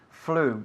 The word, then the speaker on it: flew: Flew, muy bien. No pronunciamos el pasado de fly, flew, ok, es flew, como si fuese F-L-U, ok?